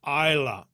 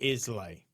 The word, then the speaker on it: Islay: On islands like Islay and Lewis, for instance, unique DNA signatures have been found that rarely show up. Isla. The name of the island is Isla, not Islay.